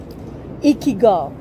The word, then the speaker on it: Ikigai: Ikigai. Ikigai. It's not good. It's ikigai.